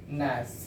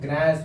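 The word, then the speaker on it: gnash: को साइलेंट करना है जैसे एक शब्द बताए थे नास जी एन ए एस यहां प जी को साइलेंट करके बोलते हैं तो आप इसको गस बोल दीजिएगा गलत हो जाएगा प्रोनंसिएशन गलत है बोलिएगा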